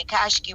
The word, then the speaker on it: Akashic: You're going to have to try to figure it out there, and maybe remember to go to the Akashic records, because everything is recorded.